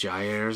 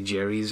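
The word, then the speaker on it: Gaiares: It's probably Jerry's or something. Ben and Jerry's. It's here's how you spell it. G-A-I-A-R-E-S. How would you say that? Gary's mod. No, it's Jair's, I think.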